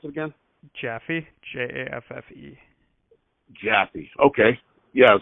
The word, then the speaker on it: Jaffe: your name is Officer uh how do I pronounce it again jaffee j-a-f-f-e -jappy okay yeah it was great talking